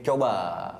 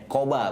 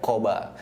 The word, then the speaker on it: Koba: Ada Pak Bawi yang menginformasikan dan beliau juga mensupport acara ini di Cafe Coba. Koba bacanya, bukan coba ya, Koba. Nah, buat Sobat Mojo yang